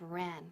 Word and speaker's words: ran: Haz que run rime con fun y ran rime con man.